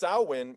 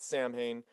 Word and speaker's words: Samhain: um it's actually pronounced sauwin it's but it's spelled samhain and he calls it samhain but it's pronounced sauwan because it's like a gaelic thing i'd listen let's just